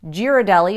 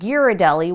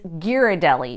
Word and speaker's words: Ghirardelli: constantly struggle with and I've heard it alternately as Ghiradelli with a soft G and Ghirardelli with a hard G actually locals debate this as well but the correct answer is its Ghirardelli with a hard G